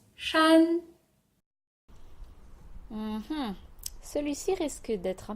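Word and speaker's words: 山: facile là ouais c'est montagne et ça se prononce chan celui ci risque d'être un petit peu plus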